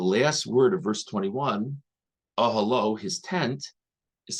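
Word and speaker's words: אהלה: So it's spelled with a hey at the end, but the Baal Koreh knows to pronounce it ahalo.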